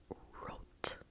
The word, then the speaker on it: rot: red red in English in German red is root root rot root so it looks like rot I feel like there are a lot of German words that are spelled like English words and are pronounced differently so yeah Root Root